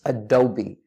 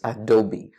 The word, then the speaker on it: Adobe: or a dope its Adobe as in ah do be double e unfortunately a lot of people do not pronounce the e at the end the correct pronunciation for